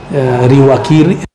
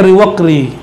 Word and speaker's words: Riwaqri: Ini beberapa pembacaan di luar Sumatera ada yang salah baca. Riwakiri, jadi nama kayak nama-nama pemain kartun tuh, Ryu. Teman-teman kita, sahabat kita Kiri namanya, Riwakiri. Bacanya Riwaqri atau sejenis itulah ya.